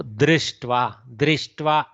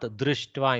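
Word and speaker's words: दृष्ट्वा: D is the first letter. R comes afterwards. There is a vyanjana followed by R. Okay, R. We can pronounce it slightly differently in two regions. So drishtva in north, drishtva in south. Okay, both are okay.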